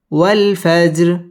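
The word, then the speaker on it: والفجر: ওয়াল ফাজর ওয়াল ফাজর ওয়াল ফাজর ওয়াও ঠোঁট গোল করে উচ্চারণ করতে হবে ওয়াল ফাজর জিম কলকলার হরফ ধাক্কা দিয়ে পড়তে হবে ওয়াল ফাজর র এটা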